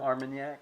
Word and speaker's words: Armagnac: Is it Armenyak? Is that how you say it? Armenyak.